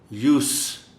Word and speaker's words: use: ये जो वर्ड है USE, इसका प्रोनाउंसिएशन नाउन के तौर पर और है, वर्ब के तौर पर और है. As noun, it is pronounced as use, and as verb, it is pronounced as use.